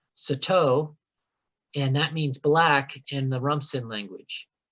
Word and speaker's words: Sato: And then we have 962, which is pronounced, I want to make sure I get this right, Sato, and that means black in the Rumsen language.